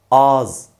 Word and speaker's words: ağız: ağız olarak yazılır ancak az olarak okunur yahut söylenir tekrarlıyorum Siz de tekrarlayın ağız olarak yazılır az olarak söylenir ağız az Şimdi de bu kelimeyi